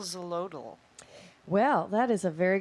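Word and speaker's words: Xolotl: very good question because i couldn't even figure out how to pronounce it until he told me like 10 times x o l o t l it's very cool his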